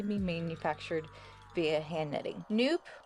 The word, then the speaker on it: nupp: manufactured via hand knitting nope rhymes with soup I personally was pronouncing it knp is a noop it's